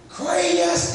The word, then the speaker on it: Chris: Krayus in Alabama. Chris is two syllables. Krayus.